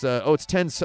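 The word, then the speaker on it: 転送: It's tenso. I'm saying tenko. It's tenso. I pronounced that wrong.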